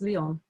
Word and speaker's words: Leong: of my father called liang in hokkien which means dragon his name in england got shortened and pronounced as lyon without the graceful long tail of a g at the end this liang is a